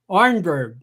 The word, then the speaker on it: Arnberg: want to introduce rick ornberg and i hope melp i'm saying your name right geez rick am i saying your name right absolutely correct absolutely right good swedish pronunciation down too okay arnberg yes wonderful so i want